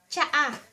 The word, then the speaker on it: tsaa: Or sa Tagalog ay, tsaa. Tsaa (pronounced cha-a) This is ----- a box of tea.